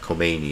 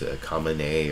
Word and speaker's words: Khamenei: his name, Ayatollah Khamenei, it's not Khomeini, it's Khamenei, or I can never know how to pronounce it, but Bob Schieffer